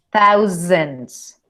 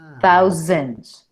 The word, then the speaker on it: thousands: frase, así como acá, esa S la pronuncio como Z. Por eso es que eso me ayuda a pronunciar mejor. Thousands. Si oyen la Z. Thousands.